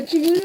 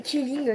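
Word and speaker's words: quilling: Bon, le killing, c'est ça.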